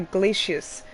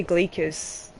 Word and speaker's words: Glacies: heading towards the magna glaciers glacies i mean that's not glaciers they say glacis they pronounced it weird a few days ago